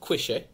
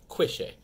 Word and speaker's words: Cuishe: they might pronounce it differently than what we're pronouncing it today. However, that's what we're going with, Cuishe. All right, I've heard Cuishe, Cuishe, Cuishe. A whole bunch of different pronunciations, but we are going with Cuishe, all right?